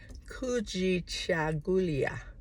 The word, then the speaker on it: Kujichagulia: Swahili in representing Kwanza we say it like this kooji chagulia K cha gulia. Self-determination. That's k u j i c h a